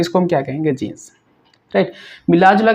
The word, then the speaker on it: जीन: जीन कहेंगे। क्या कहेंगे? जीन। इसे जीने नहीं पढ़ेंगे, जेने नहीं पढ़ेंगे, जीन पढ़ेंगे, राइट गाइस।